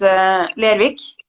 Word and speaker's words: Lervig: pronunciation of Lervig is Lervik. So Levig. it almost sounds like a K in the end.